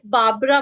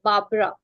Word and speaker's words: Barbara: But there is one pronunciation mistake. That is, it's Barbara, my dear. Barbara.